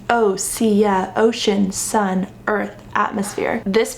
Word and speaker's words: OSEA: a rich history if you don't know it's pronounced OA ocean sun earth atmosphere this brand has such